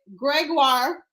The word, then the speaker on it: Gregoire: Gregoire. Ha! I finally got it right, guys. I've been pronouncing it wrong this whole time.